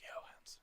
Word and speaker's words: Johansson: It's pronounced Johansson.